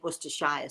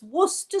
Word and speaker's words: Worcestershire: in england you'll know we never say worcestershire sauce do we it's worcester sauce but doesn't matter how